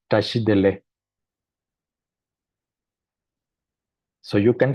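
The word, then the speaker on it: བཀྲ་ཤིས་བདེ་ལེགས: And it sounds like tashidele.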